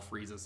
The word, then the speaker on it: Frieza: Yes, because there are other words where you don't sound out the I, but they have the IE spelling, like shield or field or believe, for example.